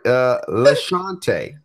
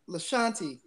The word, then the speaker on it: LaShanti: LaShante Logan. I hope that is right. LaShante Logan. If it's not, please let me know. She said it's LaShanti. LaShanti.